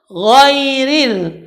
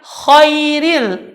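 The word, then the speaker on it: غير: ketika menyebut woi read Woi Rin banyak orang mendengar ketika orang menyebut huruf alay Ririn dia ganti the road tadi dengan huruf hold Dia membacanya Khoiril ini salah dan merubah makna tetapi yang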